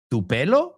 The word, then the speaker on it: Tupelo: Tupelo? Bueno, así se escribe, but it's Tupelo, Mississippi. Now, a lot of people